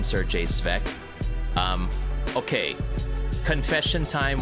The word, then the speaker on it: Serjay: in the Philippines um if you see a word like s-e-r it's pronounced and that's how we would pronounce at the word sir like the night sir so it has happened